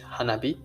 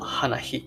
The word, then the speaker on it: 花火: And I guess similar thing happened to the Japanese language, hanabi or hibana, not hanahi or hihana.